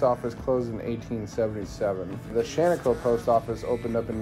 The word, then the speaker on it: Shaniko: the funny thing is local Native American pronunciation of his last name ended up as shano anyways there was a